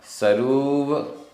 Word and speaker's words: सरूव: णीय सरूव, रा में बड़े हो की मात्रा, सरूव चुओ, चुओ।